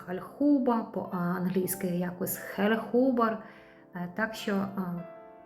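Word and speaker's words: Hallhuber: Німецький бренд. Е, по-німецьки читається Хальхуба.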